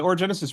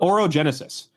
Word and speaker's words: Orogenesis: So the route the Orogenesis Route has been.